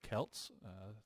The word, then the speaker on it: Celts: took it to the Kelts thanks Mr crapley for correcting my poor pronunciation of Kelts I kept saying Celts for some reason uh and we defeated